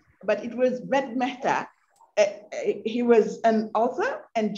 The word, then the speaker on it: Ved Mehta: I think that he mispronounced the name, but it was Ved Mehta.